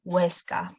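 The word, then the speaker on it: Huesca: so the letter ace it doesn't really have any sound it you don't pronounce at all we don't pronounce it for example for example it's the city avana city as well weska so most of the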